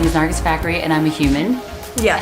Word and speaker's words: Nargis Fakhri: So, my name is Nargis Fakhri, and I'm a human.